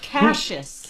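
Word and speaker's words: Cassius: That's pronounced Cases.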